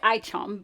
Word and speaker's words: ICHOM: really generous introduction um it is aichom but definitely forgiven if you pronounce it otherwise um and it really